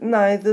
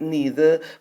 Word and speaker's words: neither: to agree with it some people pronounce it neither some people pronounce it neither both pronunciations are correct so to give you